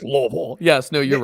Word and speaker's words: Louisville: but it's Louisville.